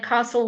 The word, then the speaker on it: castle: And then castle, we actually don't say that T, that's a silent letter.